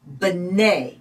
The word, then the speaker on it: Bnei: Bnei. So the B is just kind of a real quick and short Bnei.